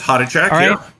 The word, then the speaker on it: Hodachak: Hodichak. Did I Did I pronounce that correct? Pretty close. Hotach.